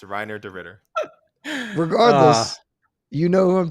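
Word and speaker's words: Reinier de Ridder: get ghee on he can explain where i'm mispronouncing renee duran listeners it is it is so much easier it is reiner de ritter it is reiner de ritter it's not it's not hey nia it's not haner it's not it's not right right it's not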